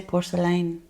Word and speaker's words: porcelaine: but this new shade porcelaine I still don't know how to pronounce it porcelain porcelaine we say porcelaine in that you push the lane push the lane okay